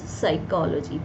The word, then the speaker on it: psychology: P is silent, then it becomes psychology, PSYCHOLOGY, right।